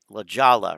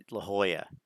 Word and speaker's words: La Jolla: and and and and I know how to pronounce this La Jala right I'm sure you get that all the time instead La Jolla but I mean you